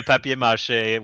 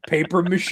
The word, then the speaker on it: papier-mâché: It's actually a papier-mâché with like the baking soda.